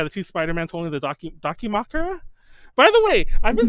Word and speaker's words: Dakimakura: Hold on, Dakimakura is the correct one, right?